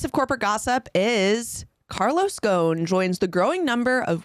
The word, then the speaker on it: Ghosn: in my life and I should know Carlos gone his his name is g h oos n uh it's pronounced Kon but we will be pronouncing it like most